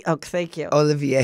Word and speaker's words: Olivier: you not date Oliver who is Mary K Olivia oh thank you Olivier how do you say his szy he is